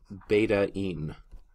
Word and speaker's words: betaine: is referred to as beta in that's how you would pronounce it beta like the Greek letter beta and then add an in at the end of it this is a beta in this is an important